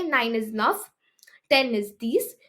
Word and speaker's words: dix: 10 is these. The pronunciation is almost like C's, which is six.